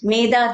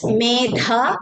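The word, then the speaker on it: मेधा: here through the medha we are invoking the blessings of medha devi and not maida devi okay so to pronounce as medha is very important and as regarding the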